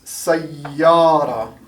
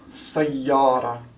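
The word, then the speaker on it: سيارة: So the way you pronounce this is sayyara, sayyara, and that means car, sayyara. You can notice how I hold out the Y here.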